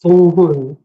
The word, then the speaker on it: 동훈: Two syllables, 동훈. But Dong-hun.